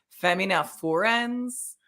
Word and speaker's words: Femina Furens: So I feel like the Latin way, I'm hoping I'm getting this right, is Femina Furens. Okay. But okay, so then it was more Femina Furens.